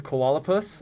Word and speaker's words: koalapus: the koala platypus uh the koalapus i believe is the uh pronunciation that he decided on um and this said